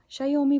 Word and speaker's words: Xiaomi: ये है शायोमी का, यही प्रोनाउंस करते हैं क्या, शायोमी प्रोनाउंस करते हैं हाँ।